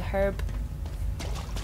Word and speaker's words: herb: There's this one, which I've rightly gone to, because there was a herb. Or as Americans say, herb, which I don't understand. It's got a H.